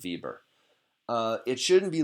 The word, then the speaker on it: Weber: you see the word the name Bieber or Weber but we pronounces Bieber it shouldn't be like